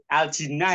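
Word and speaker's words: الجِنّة: Oh, itu aljinnah ya? Aljinnah bukan aljanah bacanya aljinnah.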